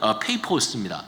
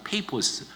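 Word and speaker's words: Paphos: 그래서 좀 이상하지만 아무튼 영어로는 페이포스입니다. 페이포스.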